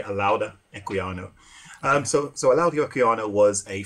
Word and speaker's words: Olaudah Equiano: I mean, Olaudah Equiano or Olaudah Equiano, depends on who's pronouncing it. I'm not actually from West Africa, so I could be pronouncing it wrong, but most people say Olaudah Equiano.